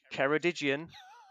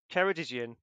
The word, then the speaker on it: Ceredigion: Watch out pronunciation, and it is Ceredigion. Brilliant. Which I think was in there last month as well. But Ceredigion, thank you very much.